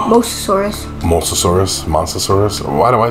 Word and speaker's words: Mosasaurus: Monsosaurus? It's Mosasaurus.